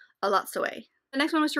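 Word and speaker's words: Elatsoe: I discovered I've been saying it wrong, thanks to the audiobook, A Lot Sway.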